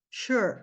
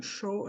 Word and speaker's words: sure: vou revelar aqui tá já pensaram sure sure não é bem um show não é bem esse som Mas a gente não tem